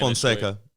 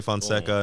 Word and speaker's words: Fonseca: where, by the way, Derrick, how do you pronounce the last name? Because there's the Spanish Fonseca. Same shit. Yeah, Portuguese and Spanish be the same way. Fonseca. Yeah, same shit. Fonseca.